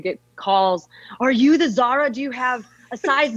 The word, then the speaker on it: Zara: like the guardian yeah zara like the clothing store actually funny story about